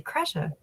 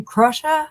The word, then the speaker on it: Kresha: When they'd ask me my name, I'd say Kresha. And they were like, is that Russian? I'm like, why? Because it kind of rhymes with it a little bit? Or you're calling me Krusha instead of Kresha?